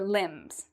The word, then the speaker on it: limbs: same thing as your limbs. Now, do we pronounce the B here? If you said no, you are correct, because as you can see, there is an M, so we don't pronounce the B.